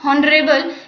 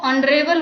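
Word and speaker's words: honorable: next है एन ऑनरेबल मैन, नॉट हॉनरेबल, इसको हॉनरेबल नहीं प्रोनाउंसिएशन करना है, इसको ऑनरेबल बोलना है और इसी वजह से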